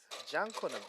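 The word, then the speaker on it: Jonkonnu: How's it pronounced? Jankuna.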